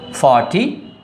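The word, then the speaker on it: forty: When it comes to F-O-R-T-Y, there is consonant after the letter R, and so R is silent.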